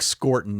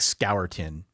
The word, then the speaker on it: Scourton: It's Nick Scorton, not Nick Scourton at Texas A&M.